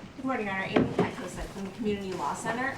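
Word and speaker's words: Petkovsek: Amy Petkoset from the Community Law Center on behalf of Brewers Hill Neighborhood. Tell me your last name again, please. Petkoset. How do you spell it? P-E-T-K-O-V-S-E-K. Oh, Pet.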